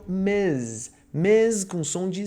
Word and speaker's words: Ms: é casada, você usa Ms com MS ponto, tá bom? Lembre-se, pronúncia MS ponto é Ms, com som de Z.